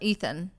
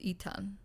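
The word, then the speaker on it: Etan: say that because it's it's not ethan it's eton so are you sure you're not drunk eaten because it's spelled e it's spelled e-t-a-n not ethan there's no h in it so just so everybody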